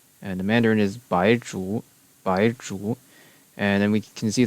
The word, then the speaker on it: Baizhu: And then the last upcoming character is Baizhu, which in Cantonese is baksot. The Japanese is byakujutsu. And the Mandarin is Baizhu.